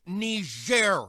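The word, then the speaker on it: Niger: thing it's pronounced ner Mr President and it's a country in Africa oh aren't we fancy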